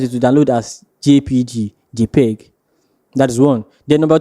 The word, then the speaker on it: JPEG: JPG is mostly mostly written as JPG where it is pronounced JPEG.